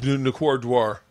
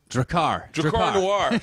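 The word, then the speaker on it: Drakkar Noir: Nicordoir. Oh, yeah. Like, how do you say it? Nicordoir. Do you remember that? You don't remember it. Yeah, yeah, yeah. The black. Dracar Noir.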